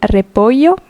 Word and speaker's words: repollo: Double L is y. El repollo.